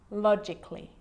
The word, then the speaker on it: logically: Now, the letter A can be silent, especially in words that end in A-L-L-Y, like these. Romantically, musically, logically. So I'm not pronouncing romantically, musically, and logically. Cut the A out. Get rid of it.